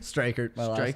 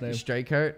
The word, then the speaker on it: Streichert: Straker. Straker. I could never pronounce that.